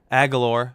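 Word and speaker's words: Agholor: you know in Laura a galore is how you say his name and you know a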